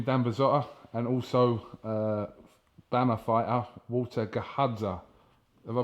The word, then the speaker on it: Gahadza: With me, I'm joined by trainer and the owner of this gym, BURZOTTA, and also BAMMA fighter, GAHADZA. Have I pronounced that right, yes, Walter?